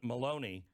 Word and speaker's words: Maloney: uh what's her name rhymes with bologna carolyn maloney uh she is the